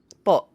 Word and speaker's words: po: Like po. So it's like but with a glottle stop at the end. Yeah. It's a hard stop with the vowel.